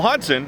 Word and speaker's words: Hodgson: That said, uh you know, Hodson has that silent G in his name, and I think it's